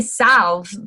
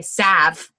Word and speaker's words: salve: to make salves and Sal I say Sal but some people just say Sav but it's spelled s a l v I was like nice